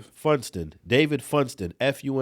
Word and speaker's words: Funston: Fordson. Is that how do you say this guy's name? Him being in Megan's law getting released ain't enough. Funston.